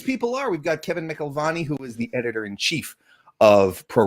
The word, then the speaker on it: McElvany: So it's McElvany, and at Wackelvany is meant to rhyme with it because I'm wiggity whack.